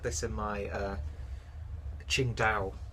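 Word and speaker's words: Tsingtao: this in my uh Ching Dao review. I think that's how it's pronounced. It's not Singtao, it's Ching Tao, Chingda. I think that's how that is pronounced.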